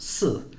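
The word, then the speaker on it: 四: in Chinese is pronounced su and actually that sounds very similar to the word for death which is so it's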